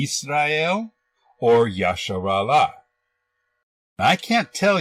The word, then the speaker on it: Israel: In the Greek Septuagent, the name Israel was written like this and is pronounced Israel. It is not Yasha.